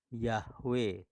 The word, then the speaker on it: Yahweh: dan bumi yang bernama Yahweh tulisannya dalam bahasa aslinya yaitu Ibrani adalah yogurt hwahae dibaca dari belakang dan bacanya yahwe barangsiapa mengenal nama Sang